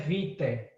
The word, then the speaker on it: vitae: Se escreve vitae, mas se pronuncia vitae, certo?